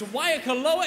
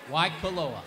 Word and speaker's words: Waikoloa: There's a 100% chance I will mispronounce it. It's Waikoloa, is that close? Waikoloa.